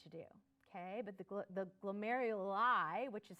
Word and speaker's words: glomeruli: this glomerulus used to do okay but the glomeruli which is how you say it plural are